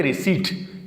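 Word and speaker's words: receipt: में तो लगता है रिसिप्ट लेकिन इसको पढ़ेंगे रिसिप्ट इसमें पी नहीं पढ़ेंगे रिसीवड मैंने बैंक से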